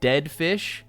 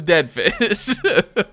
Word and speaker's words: DEDF1SH: who previously, before this expansion, who's now called Oct, was called Deadfish, which was spelled like dead mouse, DEDF1SH. And Deadfish was the musician who produced all of the music for the Splatoon 2 Octo expansion.